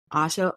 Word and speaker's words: Asha: your name no you said I correctly it's pronounced Asha Asha okay great because I feel like you should